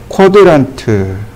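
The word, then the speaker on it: quadrant: 어렵죠 이거 4분점이라고 합니다 쿼드란트 쿼드란트라고 읽어요 이거 동의어가 있습니다 동의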